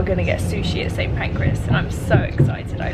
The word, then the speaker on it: Pancras: Pancras and I'm so excited. I love sushi. Oh boy. Pancreas again. Pancras. Pancreas, St. Pancras.